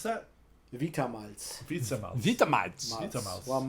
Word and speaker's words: Vita Malz: And So it was how do you pronounce that? Vita Malz.